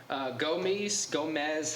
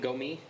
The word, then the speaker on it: Gomis: Gomez, however you say his name, Gomis. I think the S is silent.